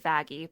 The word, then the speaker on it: Vaggie: be his car in character okay but she pronounces it vaggie because that's I think that's better turn something